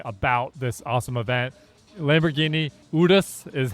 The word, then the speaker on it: Urus: Lamborghini Udus is how you pronounce it.